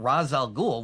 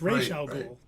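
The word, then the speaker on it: Ra's al Ghul: It's not Razal Ghoul. What? Yeah, it's Ray Ghoul.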